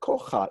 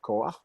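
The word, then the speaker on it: כֹּחַ: It is not kocha, even though it looks like it. It's actually koach.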